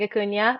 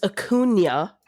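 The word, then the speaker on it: Acuña: It's Acuna, not Acuna. Nobody ever gets it. It's fine. I like to say Acuna rhymes with petunia, but I did not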